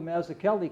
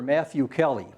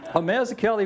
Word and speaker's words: Mazzuchelli: Now, the Irish miners could not pronounce that darn Italian name. No way. So they just took to calling Father Mazzuchelli Father Matthew Kelly. Mazzuchelli was a strong believer